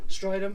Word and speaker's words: Strydom: This is Tristen Strydom, is that how you pronounce it? Yeah. Strydom, okay.